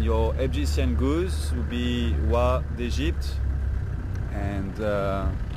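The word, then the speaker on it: oie: And your Egyptian goose would be Wa d'Egypte, and Wa is the name for goose, so, and you spell it O-I-E, very weird name in French.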